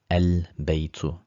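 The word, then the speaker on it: البيت: So here we pronounce the lam al-baytu, al-kitabu, because kaf and ba are moon letters.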